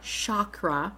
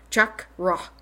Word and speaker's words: chakra: the correct pronunciation is if you take Chuck and run and drop the end so it's like Chuck rock that's actually how it's